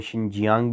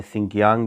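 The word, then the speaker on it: Xinjiang: ये इसको शिनजान भी कहते हैं, शिनजियांग भी कहते हैं, सिंकियांग भी समटाइम जो है ना प्रोनाउंस करते हैं।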